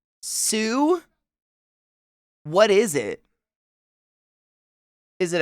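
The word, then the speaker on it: Sault: It salt staint Marie.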